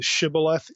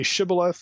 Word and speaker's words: shibboleth: No, it's Sibboleth. Well, you know, you're dog meat now. You know, it's a dialectical difference in the pronunciation of a particular term that distinguished where a person was from.